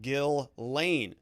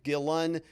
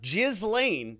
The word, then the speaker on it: Ghislaine: gill lane so glenn gillen and gillane those are all appropriate but what they're telling you is never pronounce the s is what they're saying here so don't pronounce the s so that's just a